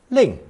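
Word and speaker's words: 另: beer minus the knife pronounced fourth tone Ling link it represents the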